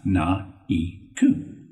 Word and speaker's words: Naiko: So I created Naiko, pronounced Na-I-Ku.